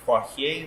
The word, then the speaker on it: Poirier: I'm Poirier. If you speak French, it's actually pronounced Poirier, but no one says that. It's like the MMA fighter. It's also like Sidney Poitier, but with R.